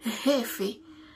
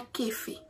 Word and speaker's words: jefe: Jefe, c'est pas kefe. Ok, gan pile monde. Et là, on dit, il va même rendre compte parce que là, autant de Chiliens prononcent, il temps que c'est kefe, vrai. Mais pourtant, il pas kefe, c'est jefe.